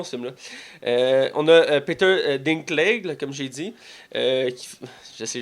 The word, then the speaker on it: Dinklage: On a Peter Dinklage, là, comme j'ai dit. J'essaie, je le prononce mal. Tu le maganes tellement. Parce que quand tu. Dis-le pour moi, Ok, c'est Peter Dinklage.